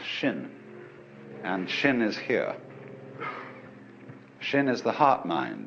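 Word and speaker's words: 心: In Chinese, mind is um this word pronounced shin and shin is here.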